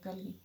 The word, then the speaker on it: کلگی: اور یہ کاف پہ زبر ہے کلگی.